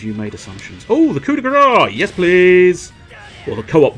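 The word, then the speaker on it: coup de grâce: It's the co-op de grace. Or technically, I suppose you could just say it's the co-op de grace, but it's supposed to be grace. It's coup de grace.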